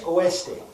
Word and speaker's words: oeste: Oeste.